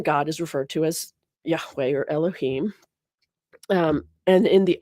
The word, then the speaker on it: Yahweh: That in the Hebrew, all you see is the tetragrammaton, Yahweh, which is sometimes pronounced Adonai to avoid pronouncing the holy name of God.